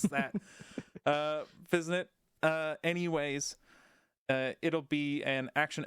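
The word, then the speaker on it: Physint: an early glimpse of, I'm going to go ahead and say Cyanit? Cyanit? Any suggestions on how to pronounce that?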